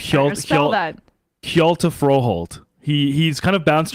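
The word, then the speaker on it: Hjalte: Scandinavian he's a Dane how do you say that it's it's h-j-a-l-t-e I believe Shield he he's kind of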